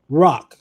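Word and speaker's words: רך: Which is called um rawk. R A It's pronounced rawk, R A W K.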